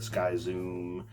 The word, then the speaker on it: Skyzum: schism spelled skyzwim uh it's pronounced schism but i've heard sky zoom and a bunch of other pronounces so whatever you want to pronounce it as that's fine um so pretty